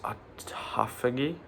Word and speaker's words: autophagy: And another thing it helps with is I think it's pronounced autophagy. Autophagy, maybe that's the right word. I don't think it's autophagy. It's a ph, but that helps with like damaged cells, right?